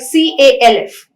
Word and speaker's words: calf: exceptions when you have a word like calf the la is silent tlk talk w-a-l-k walk